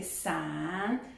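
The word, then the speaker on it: 伞: Parce que le parapluie en chinois c'est san, san, et le poire c'est li.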